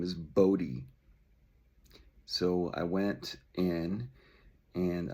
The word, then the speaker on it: Bodhi: And so when they introduced me to her, they thought her name was Buddha. So that's actually why I picked the name. I'm like, well, Buddha's cool. I'll go with Buddha. But then it turns out they just mispronounced the spelling of Bodhi, which is a really